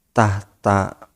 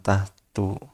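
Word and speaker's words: تحتا: Wa hiya yaf'alani, adapun contoh dari af'al khamsah adalah seperti lafaz yaf'alani bil musannati tahta, yakni lafaz yaf'alani dengan dibaca 2 titik di bawah iya-nya. Ini kemungkinan dibacanya tahta, bukan tahtu.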